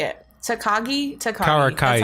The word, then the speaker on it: Karakai: Then, okay, so Karaki kind of like, do you say like Karaki or I can't say it. Takagi. Karakai.